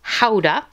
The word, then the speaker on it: Gouda: I got some Gouda, or if you're really being particular, it's pronounced Gouda.